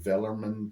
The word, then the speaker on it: Wellman: was a German and vman created the C well and the other guy yeah but in Germany you pronounce W's more like these oh V so you okay fly